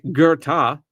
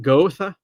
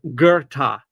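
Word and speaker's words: Goethe: So, this is Gerta. I don't know where the R is coming from.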